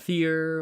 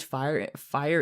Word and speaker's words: Fyr: But the name WhiteFyr in general, and by the way, the last part is pronounced fire, F-I-R-E is how it's pronounced. It's not fear or something like that. It is fire.